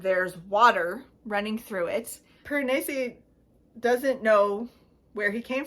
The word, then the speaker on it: Piranesi: Apparently it's the correct pronunciation. Everyone says Piranesi. That's not it. It's Piranesi. I looked up the pronunciation just to set the record straight.